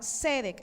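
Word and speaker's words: tzedek: la palabra justicia en hebreo es la palabra cedec se escribe t Z e d e k tiene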